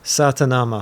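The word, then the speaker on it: Sa Ta Na Ma: Satanama. Satama. Satanama. Satama. You got to pronounce it right.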